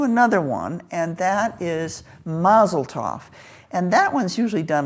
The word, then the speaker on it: Mazel Tov: I am pronouncing it Mazel Tov because that's the way I was taught. It's Yiddish. It's Yiddish. Mazel Tov. And I think that's the way you hear it spoken here in this country, Mazel Tov.